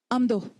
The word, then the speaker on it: Amdo: Amdo. Amdo is actually spelled a and do. A and do. And it's pronounced amdo.